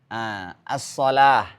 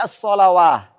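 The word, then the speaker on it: الصلاة: As-shalah. Maka yang dibaca alifnya, bukan wawunya. Jadi nggak boleh dibaca as-shalawah. Bacanya as-shalah. Kemudian busyrakum.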